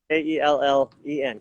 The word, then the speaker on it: Kellen: So let's talk a little bit about Kellen. Kellen or Kalen? How do you say his name, first of all? Because I only read it. K-E-L-L-E-N, Kellen.